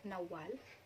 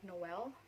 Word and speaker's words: Nawal: It must be Nawal with double W, but some people find it easier to call me Nawal, but some of them actually pronounce it like, it sounds more like Noel, N-O-E-L, but that is not the problem.